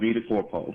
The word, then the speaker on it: VitaCorpo: Am I pronouncing that right? We'll take that, but it's called VitaCorpo.